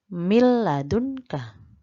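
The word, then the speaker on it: مِن لَّدُنكَ: adalah alam dan roh contoh membacanya yaitu dibawah ini mil ladunka milladunka milladunka bukan minus salah milladunka milladunka jadi langsung ya kemudian nun mati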